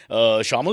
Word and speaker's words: Shayamal: Well, he's desi looking, but he's, as far as I've done a little research, Shamal is the right way to say it? Correct. Absolutely correct.